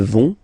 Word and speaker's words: vont: Ils vont. Elles vont. Okay, remember, final T not pronounced, so you get this ON nasal here.